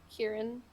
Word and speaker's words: Ciaran: What did, is it pronounced Ciaran? Kieran. Kieran.